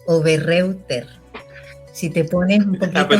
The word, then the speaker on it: Oberreuter: Mira, lo puedes leer exactamente como lo ves, Oberreuter. Si te pones un poquito más fino, le dices Oberreuter, porque en alemán EU es OI.